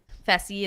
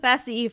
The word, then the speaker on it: Fessie: fessie like he is Messi rhymes with fessie for a reason his